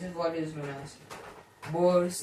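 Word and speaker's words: Born's: Okay, this is what is known as Bor's interpretation not bore bonds.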